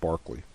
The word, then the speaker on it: Berkeley: It's usually pronounced Barclay. Governor Barclay, because Barclay was seen as doing two things.